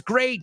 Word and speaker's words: great: sometimes the word is great say it with me it rhymes with fate hate rate and the second word